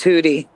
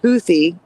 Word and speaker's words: Houthi: The man's excuse is Americans were pronouncing it wrong as hoodie. And when the news journalists learned that it was actually pronounced Houthy, uh, they they started saying Huthi.